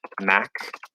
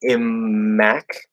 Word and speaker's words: immaculate: It's like mac, right? But it doesn't matter. It doesn't matter. It's going to sound like this. So it's not It's not like immac. It's mac. It's just one sound.